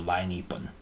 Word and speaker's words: lainipun: Remember the lie? From lelai. If you remember the word for Wednesday, lelai, you just take that first syllable le off, and now you have lie left. So lainipun.